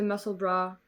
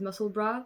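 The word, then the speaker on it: Musselburgh: about this if you don't know about the muscle bra which by the way that's the pronunciation it's my pet peeve I'm so sorry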